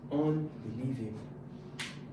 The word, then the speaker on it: unbelievable: The stress is on the fourth. Unbelievable.